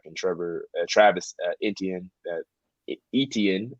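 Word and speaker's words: Etienne: Trevor Travis Indian that etn is how you pronounce it I always butcher but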